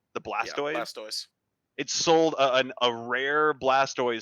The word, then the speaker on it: Blastoise: the Blastoise, I don't know Pokemon, is that pronounced right? The Blastoise? Yeah, Blastoise.